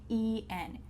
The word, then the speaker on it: than: He's faster than me. He's faster than me. The word here is than with an A, but when you say that quickly, it sounds like THEN.